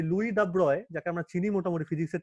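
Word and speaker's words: Louis de Broglie: মানে যাকে আমরা চিনি, দিব্রগলি উচ্চারণটা করবে না সব জায়গাতে। হ্যাঁ দাব্রয় উচ্চারণ, দাব্রয়, দিও না, দাব্রয়। হ্যাঁ, লুই দাব্রয়, ফ্রেঞ্চ।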